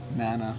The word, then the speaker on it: mana: It's a Hawaiian word and it's actually pronounced mana.